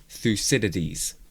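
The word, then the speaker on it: Thucydides: th I'm going to look this up th pronunciation is the most looked thus. Okay, thusidities.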